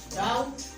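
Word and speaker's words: doubt: ये word अबाउट इट, डोंट worry, word simple and front of डाउट, डाउटफुल, डाउटफुलनेस। यहाँ पर B letter आपका क्या है?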